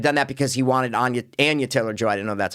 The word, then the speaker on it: Anya Taylor-Joy: I feel like he might have done that because he wanted Anya Taylor-Joy. I didn't know that's how you pronounce it. Is it? Anya Taylor-Joy.